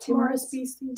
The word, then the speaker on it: Timorous Beasties: Timorous Beasties.